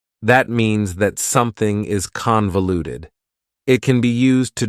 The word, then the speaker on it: convoluted: for you is convoluted convoluted also has four syllables and the stress is on the first syllable convoluted that second syllable again has that schah sound that reduced vowel sound uh convoluted convoluted if something